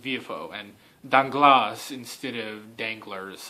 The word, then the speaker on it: Villefort: It's like, if you look at that, it's spelled Villefort, but it's pronounced Villefort, and Danglars instead of Danglars, and Morcerf instead of Morcerf, I guess.